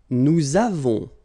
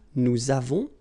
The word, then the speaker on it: nous avons: Nous avons, so you can put this little liaison, link between the two. Nous avons.